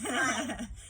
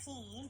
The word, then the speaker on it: Pied: It's Pied, not Peed.